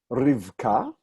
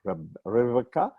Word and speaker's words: Rivka: And this is one of those times where this shva comes at the end of a syllable here before the next syllable ka. So in our pronunciation, this has no sound value at all.